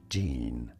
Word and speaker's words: Gian: that leaves us with Gian if that's how you pronounce that it probably is in English this name is generally said as Jean it's a nice name I have nothing to say about Gian honestly it's not bad